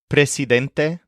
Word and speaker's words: presidente: is President which is Presidente or presidenta make sure to keep the S hard and unvoiced when you pronounce this presid Presa for example she